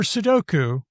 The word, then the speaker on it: sudoku: But for sudoku, the second and third vowels are really similar. So I think there's a strong temptation to merge them, bring them closer.